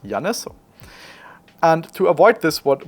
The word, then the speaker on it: Janis: into into the assistant the assistant would usually pronounce it Janice and Janice as you can imagine is often being interpreted as jice which looks like this which obviously is not my name but it sounds very